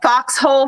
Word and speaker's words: FQXHOLE: what what organization na we are the Foxhole Foundation okay and it's it's spelled fqx h o l e Foundation okay yep